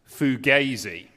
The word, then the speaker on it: fugazi: that was predictable but um this word is pronounced Fugazi and it's not that surprising that you don't